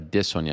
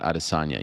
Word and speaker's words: Adesanya: that incorrectly it's a dissonia not adesanya you know that right